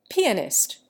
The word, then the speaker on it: pianist: There are again pianist, primarily, and telegrapher. The English accent the first syllable of each. We commonly accent the second.